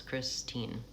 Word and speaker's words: Christine: For example, my name, Christine, has 2 syllables, Christine.